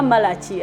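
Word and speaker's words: Malachi: Tugenze mu Malakayi oba Malaki abamu bagita Malaki. Naye nga pronunciation I think eri Malakayi.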